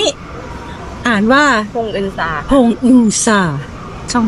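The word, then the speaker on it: 봉은사: ต้อง ไป ลง ที่ สถานี นี่ อ่าน ว่า พงอึนซา ค่ะ พงอึนซา ช่อง ที่ 9 ซึ่ง เขา ชี้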